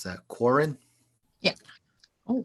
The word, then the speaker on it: Quarren: How do you pronounce that? Quarren? Yeah. Oh, Quarren.